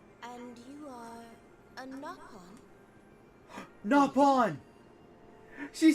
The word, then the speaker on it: Nopon: I found someone that doesn't mispronounce that doesn't mispronounce the freaking Knopon. I'm sorry. I I' I've been keeping it in this entire stream. Every time they've said it, I hate that phrase. It's pronounced Napon.